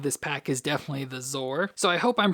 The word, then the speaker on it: Zoar: pack is definitely the zor so I hope I'm pronouncing the name right it said that it's supposed to be sore like sore like a bird just with a z so it'd be sore